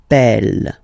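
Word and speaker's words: appelle: So when you get this vowel and then you get a double consonant and well, they are the same, then it does change the pronunciation of uh you tend to pronounce it like e a really open. That's the reason why you pronounce it Apple.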